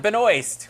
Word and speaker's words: Benoist: me to pronounce her I forgot how to pronounce it Melissa Benoist we think from Supergirl and Supergirl then we